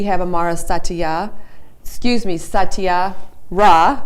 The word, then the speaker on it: Saatia Ra: 7th and we have amara satya excuse me satya rah right correct i apologize because even at the last show i said her name wrong and i don't know why i can't